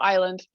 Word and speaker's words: Island: I'm Island, and it's like tropical island, and nobody pronounces it right.